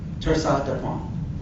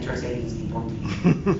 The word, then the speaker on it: torsade de pointes: And this is called torsade de pointes. Like I said, you gotta go with the French pronunciation of it. Otherwise, you end up saying Tersades di Ponti. That doesn't quite sound as good.